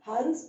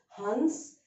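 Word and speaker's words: हंस: that is Sha, Saha, it will take the dot and it will be correctly pronounced as an Anuswar Ang itself. So this is Hans and this is Has.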